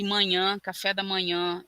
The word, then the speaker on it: manhã: de manha manha e manhã café da manhã e manha é uma uma coisa difícil tem a nasalidade aí da vogal mas também tem a sílaba tônica né que é uma